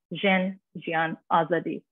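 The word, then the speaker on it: Jin, Jiyan, Azadî: slogan basically and in parsley in Kurdish it's pronounced zhen Gian Azadi which kind of translates into woman life freedom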